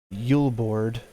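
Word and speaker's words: julebord: the Christmas season called yield board yeah I just said it right this time because I've heard of yule like j-u-l-e begins December 3rd filling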